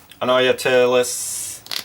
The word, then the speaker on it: Anoyatilis: Anoyatilis, yeah, that's how you say it.